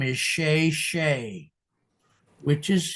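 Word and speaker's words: Chezshay: The artist's name is Sha Shay, which is spelled C H E Z S H A Y.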